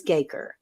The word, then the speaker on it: Gakrr: emailed the company and they said yes it is gaker it's like um like Baker you know kind of